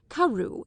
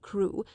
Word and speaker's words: Crewe: Madame Pascal pronounced it as if it were Carew instead of Crewe, but that might merely be a matter of pronunciation.